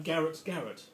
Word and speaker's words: Garet: He was actually christened Edward, for some of you that asked me earlier, and he pronounces his name Garrett.